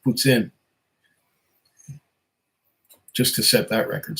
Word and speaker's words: poutine: had other varieties of puts in it's not pronounced poutine by the way it's pronounced puts in just to set that record straight yes i've